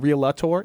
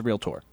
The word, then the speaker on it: realtor: We're I don't like It's not realtor, it's realtor. So, it's two It's two syllables, not three.